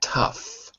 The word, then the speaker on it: tough: in different ways and the GH can either be a f or it could be silent a f as in tough but silent as in though so that's why this